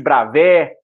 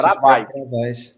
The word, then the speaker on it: Bravais: E esse final em substantivos A e S, ele costuma ser pronunciado como E mesmo, um E mais aberto.